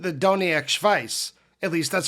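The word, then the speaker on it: Doniac Schvice: First, I brutally butchered the name of Fish's old newsletter by calling it the Dovia vice. I think I got my consonants mixed up because it's really called the Doniac Vice.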